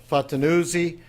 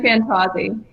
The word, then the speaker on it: Fantauzzi: thanks for joining with us I have Katherine Patton uzi she is the co-founder and CEO of Apollo